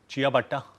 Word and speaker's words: चिया भट्टा: Doesn't it sound like a shoe to यू? चिया भट्टा। इट्स a bread. I know sounds weird. ऐसे आप pronounce करोगे।